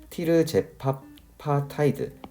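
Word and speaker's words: tirzepatide: 이 듀얼 아고니스트의 상품명은 마운자로이고 이거의 성분명은 털제펩타이드인데 조금 더 한국적으로 발음하면 티르제파파타이드라는 라고 할 수 있겠습니다.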